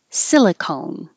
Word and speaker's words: silicone: first one they have they have different endings uh silicon with an ah silicon with the e silicone silicon valley and silicone